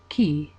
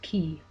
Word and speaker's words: chi: The chi rho is made up of the letters chi, pronounced k, and rho, pronounced r, the first letters of Christ's name.